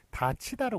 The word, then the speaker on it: 닫히다: 요런 식으로 써야 맞습니다 발음은 요게 디귿이 넘어가면서 t요시되고 그 다음에이 앞에서 9개 음악이 되기 때문에 다 치다로 그렇게 발음이 되죠 다치다로 발음이 아까 전에 부상당하는 다치다고 발음이 똑같습니다만 쓰는 것은 요거 다듬을